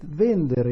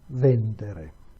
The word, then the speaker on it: vendere: And with vendere instead, the stress is shifted one syllable to the left.